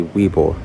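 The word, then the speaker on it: Webull: now the second one is going to be Weeble and in case you're like who that sounds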